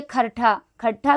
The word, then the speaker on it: खोरठा: इनके अनुसार बांग्ला के वर्तुलाकार उच्चारण की वजह से खरठा जो है खोरठा बन गया, खरठा ही क्या बन गया, खोरठा बन गया।